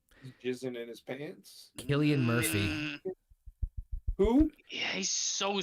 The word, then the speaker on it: Cillian: Killian Murphy. Who? Yeah, he's so skinny. Did you Cillian Murphy. Did you watch Oppenheimer? Yes. He was like 3 Murphy? pounds. Killian Murphy.